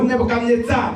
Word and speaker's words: Nebuchadnezzar: Parce que quand Nabucodonosor, ou Nebuchadnezzar, ça dépend de la prononciation, il prend et il va vaincre le royaume d'Israël.